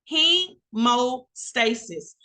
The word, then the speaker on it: hemostasis: first things first our first HW is pronounced heo stasis hemostasis it's on page 35